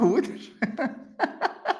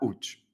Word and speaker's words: Łódź: Łódź, très exotique prononciation. Łódź.